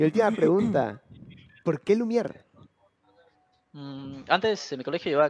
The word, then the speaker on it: Lumière: En español, Lumière está bien, pero supongo que en francés, Lumière.